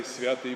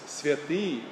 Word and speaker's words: Святый: When you're reading the Trisagion, and people say Святый Божий, Святый Крепкий, it's not. Look at the accent. It's Святый Божий, Святый Крепкий. It's on the and not on the ya.